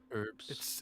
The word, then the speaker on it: herbs: herbs and spices and herbs. It's great. Everybody loves it. It's awesome. Why don't Americans say the H in herbs? Herbs and spices? Herbs. You say herbs, but there's a H there.